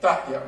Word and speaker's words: Dahya: I thought it was Dahya, but Dahya, right? Is that correct?